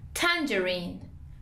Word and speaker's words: tangerine: Listen to the American pronunciation. Tangerine.